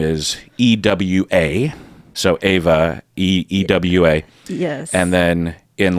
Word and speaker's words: Ewa: So, yeah, on my Facebook, I have it written down phonetically, but I usually write it E-H-V-U-H.